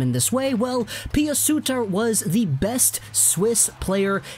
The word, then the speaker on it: Suter: the broadcasts, it's Pius Suter, kind of with an A instead of an R sound at the end. So we're gonna call him Suter for this video.